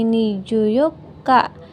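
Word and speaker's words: 二十四日: Eh, ini dibacanya juyoka. Ini hatsuka, ini nijuyoka. Jadi, tidak memakai ni ci ya, minasan.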